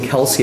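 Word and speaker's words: Kelce: I feel like Travis and Jason Kelsey have said that their last name is actually pronounced Kels. But people have just said Kelsey since their college days, and they've never really corrected anybody.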